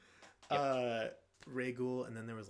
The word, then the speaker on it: Rhaegal: So it is Rhaegal. I questioned whether or not it was Rhaegal, but I was pretty sure it was Ray.